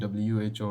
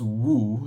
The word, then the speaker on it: WHO: So I was surprised as well when my wife was pointed out to me that I was pronouncing WHO wrongly, that it's not woo, it's just who.